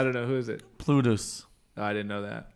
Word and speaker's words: Plutus: Plutus. Oh, I didn't know that. Oh wow. I think it's pronounced I told you it's Plutos.